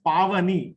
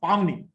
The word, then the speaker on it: Pavani: One name is Pavani, Rava Idli, Pavani. and it is being pronounced as Pavni. Please check on that. Everybody pronounced her name as Pavni. Letter A was missing.